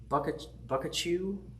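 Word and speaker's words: Boccaccio: I think it's a weird way. It's like Buckachew. It's not Pikachu, but it's close.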